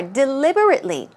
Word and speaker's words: deliberately: One more, deliberately. Remember, it means to do something intentionally or purposely. It's often planned out. So let's take a look at the pronunciation. Deliberately. Stress goes right there.